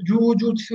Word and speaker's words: Jujutsu: Per Judo sì, per Jujutsu sì, perché vuol dire morbido si legge sempre lungo.